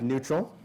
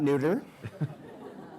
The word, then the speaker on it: NÜTRL: issue I've always heard new Trel well it's a stylized version of the word neutral yep so it's pronounced like neutral not neuter my favorite is new tree I love that new